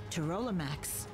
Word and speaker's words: Pterolimax: Pterolimax, it's one of the Dom's creatures. Pterolimax, I like the Therodon, it's inside the P is silent.